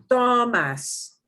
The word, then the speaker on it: tomas: Last syllable is that mas thing. Tomas. That gets more emphasis.